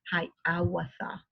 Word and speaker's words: Hiawatha: Okay, this is pronounced Hiawatha. Write it in syllables, and this is Hiawatha.